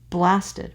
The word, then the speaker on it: blasted: So the first two syllables, the first foot, is a trochee. Blasted rather than blasted, right?